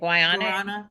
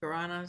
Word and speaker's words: guarana: Guayana? Guarana, something Yeah, like it.